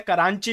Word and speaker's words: कराची: कराची की स्पेलिंग गलत है, करांची लिखा हुआ है, बट इट इज कराची।